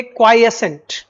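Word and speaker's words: quiescent: तो पढ़ेंगे क्वाइएसेंट। क्या पढ़ेंगे, क्वाइएसेंट। पहले तो उच्चारण ठीक करिए, क्या पढ़ेंगे, क्वाइएसेंट, ठीक।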